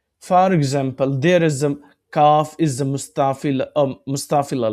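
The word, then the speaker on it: كاف: So, kaf alif zabar ka.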